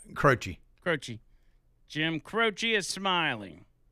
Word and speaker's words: Croce: Crochet? Croce.